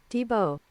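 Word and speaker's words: Tiebaut: Tell me how to pronounce it, Google. T-Bo.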